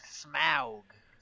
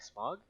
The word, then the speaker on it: Smaug: Stephen actually shut up it's Smaug pronounced mouth I'm like smog smog class yeah I want to